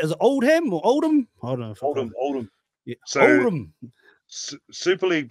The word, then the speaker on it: Oldham: Oldham.